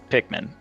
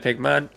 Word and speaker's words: Pikmin: confident playing that Claren why are we saying Pikmin instead of Pikman because we just realized we were saying it wrong pikm Pikman Pikmin pikm